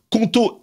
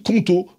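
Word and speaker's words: Qonto: ni l'envie de te battre contre l'administration française conto est là pour te simplifier ta vie d'entrepreneur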